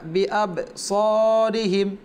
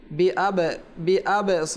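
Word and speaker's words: بأبصارهم: ওয়া ইয়াকাদুল্লাযীনা কাফারু, ওয়া ইয়াকাদুল্লাযীনা কাফারু লায়ুযলিকুনাকা বিআবসারিহিম, বিআবসারিহিম, বিআব স আমরা যেন এটা না পড়ি, বিআব স এমনভাবে কলকলা করবো না, বেশি এত অতিরিক্ত কলকলা করবো না যেখানে আমাদের জবর অথবা পেশের দিকে ইঙ্গিত হয়ে যায়।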